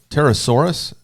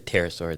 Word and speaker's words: pterosaur: It's a pterosaur. The P is Well, you may silent. not want to talk to your son about P this, is silent. this Okay.